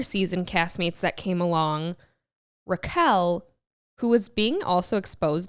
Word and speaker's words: Raquel: I heard she was always called Rachel, and then for the show, decided that her name would now be pronounced Raquel.